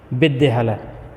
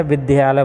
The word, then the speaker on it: विद्यालय: हैं य अशुद्ध है विदल हमेशा विद्यालय बोलते हैं लोग यह बोलते हैं इसका उच्चारण गलत करते हैं जबक शुद्ध क्या है विद्यालय ठीक है यह तीसरा